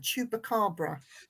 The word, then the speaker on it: Chupacabra: It looks like a bit like how do you pronounce that? Chupacabra.